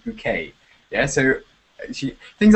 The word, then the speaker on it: Bouquet: Her name is Pyint Bucket but she insists on everyone calling her bouquet now. Yeah. So it's not bucket it's like French pronunciation bouquet.